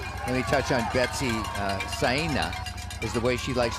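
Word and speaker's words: Saina: scout the course let me touch on betsy cyna is the way she likes to pronounce her name spelled s-a-i-n-a but from kenya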